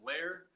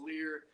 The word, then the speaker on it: Lehr: I know the way that my dad told me, and it was Lehr, so like A-I-R kind of thing, but I've heard it pronounced Lear.